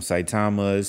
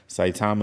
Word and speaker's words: Saitama: to look at um i don't want to butcher the name of it the spelling is s-a-i-t-a-m-a saitama has it's a a ghost wolf so i'm going to look at some saitama's super like like eight zeros into some or